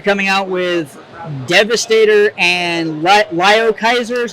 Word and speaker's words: Liokaiser: So you're coming out with Devastator and Lio Kaiser, is how you pronounce it?